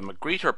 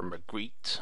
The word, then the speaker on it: magrittr: it is from the mcgreer package or mcre I think the r is not pronounced as strongly as one would think and it was written